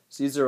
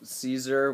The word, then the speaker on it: Caesar: I always spell Caesar with an E at the beginning. It starts with an A. Like it's like the A is silent. Kaiser, Caesar.